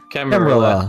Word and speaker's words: Camarilla: Is that how it's pronounced? Camarilla.